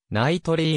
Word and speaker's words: Knightley: ことが多いが正しい発音はでありナイトリーの表記がより原音に忠実である k らナイトリー